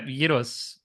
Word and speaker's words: gyros: Yeah, gyros. You have to roll the R. Gyros. Euros. Euros. Gyros is souvlaki, and I love gyros. And in Greece, they put the fries in the gyros with tzatziki sauce, and